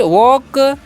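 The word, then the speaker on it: walk: ठीक है, तो आगे लिखा हुआ है डब्ल्यू ई, तो वी वॉक, यहाँ पर एल साइलेंट होता है, इसका आपको ध्यान रखना है।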